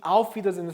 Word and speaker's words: Wiedersehen: Auf Wiedersehen. 자, 이 에는 어떻게 한다 그랬죠? 이를 길게 한다 그랬죠. 그래서 wieder 길게 발음하죠.